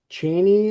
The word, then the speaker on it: Cheney: And number 9, the Cheney, is that how you pronounce it?